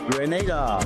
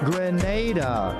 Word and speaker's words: Grenada: So today, like we Germans say, we are in Grenada. But I heard in English it's called Grenada. Say it right. Grenada. Say it right. Grenada. That's right. Grenada. There we go. Say it right. It's Grenada. It's not Grenada.